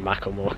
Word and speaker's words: Macklemore: of my favorite artists McLemore I think it's pronounced I like saying Macklemore cos that's what I've been brought up with by waiting outside actually